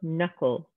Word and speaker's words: knuckle: Next, we have the K-N combination, where the K is silent, like knowledge or knuckle or knives. We're not saying knowledge or knuckle or knives. We're ignoring that K, that's our silent letter, and we're only pronouncing the N.